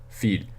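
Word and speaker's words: fils: the end and then the final one is feed and that means son now remember this means field spelled like that means both girl and daughter this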